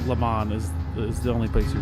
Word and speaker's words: Le Mans: You do say the N. Le Mans. But no S. Just Le Le Mans. Mans. Yeah. Wait, how do you say it? Le Mans.